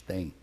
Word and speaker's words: têm: Porque esses verbos, até o século XVIII, eram proferidos como você profere ele tem, eles têm. Não existe diferença de pronúncia entre o singular ele tem e o plural eles têm.